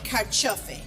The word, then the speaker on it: carciofi: So I love Italian food, and we're going to make something today with two of my favorite ingredients, tomatoes and carciofi.